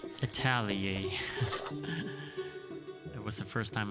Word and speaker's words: atelier: checked google and um that is pronounced as italia it was the first